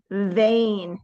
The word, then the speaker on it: vain: name is Wayne and vain that means like so proud of himself ready Wayne if you feel a buzz here on your lip you're doing it right so vain okay then